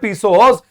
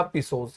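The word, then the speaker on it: pesos: I need a 100 पीसोस in order to सो my field again.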